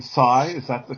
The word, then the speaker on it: Si: Is the correct way to say your name Sai?